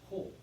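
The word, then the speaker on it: ὁ: 근데 오미크론 오 위에 거친 순표가 있잖아요. 그래서 히읗자 발음을 넣어서 호.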